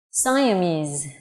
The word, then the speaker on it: Siamese: Siamese. Okay, you can see Mise giống như từ Vietnamese, âm cuối là âm z.